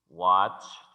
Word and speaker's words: watched: Cuando se pronuncia este verbo, la E no se pronuncia, sino que después del sonido de la che, que es este símbolo que está acá, suena una T.